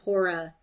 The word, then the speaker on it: Hora: Or is it rather that Hora, as now they call her, the first syllable pronounced long, being a kind of